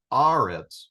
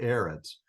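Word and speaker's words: אָרֶץ: the promised land uh the vows here are Pak and a sha uh so the Patak is kind of an a sound so this would be pronounced arits not aits because this command came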